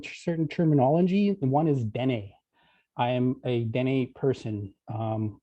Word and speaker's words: Dene: took the word, and Dene's got two syllables, Dene.